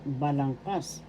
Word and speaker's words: balangkas: pangungusap structure balangkas balangkas first syllable ba Second syllable lang. Third syllable cast. The third syllable has the action balangkas.